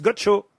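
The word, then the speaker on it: Godchaux: Ah non, mais là, ça s'écrit pas Gaucho. C'est Gaucho comme Gaucho. G-O-D-C-H-A-U-X, Gaucho.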